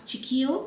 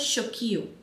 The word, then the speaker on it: Chiqio: Now the brand, they say you can pronounce this as Chiqio, which I pronounce because that's how it spells as, or it's supposed to also be pronounced as Chiqio. So that's like up to you.